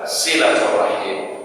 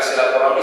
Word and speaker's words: silaturahim: Tapi kita tidak salah hanya menggunakan silaturahmi. Sebenarnya maknanya yang dia inginkan itu apa? Silaturahim. Jadi artinya Ustaz ingin memberikan pemahaman kepada kita semua. Ada hal-hal memang mungkin pengucapannya berbeda, tetapi substansinya sama yang dimaksudkan, ya.